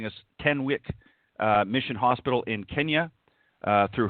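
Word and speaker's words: Tenwek: Is it Tenwick? Yes. Tenwick Hospital.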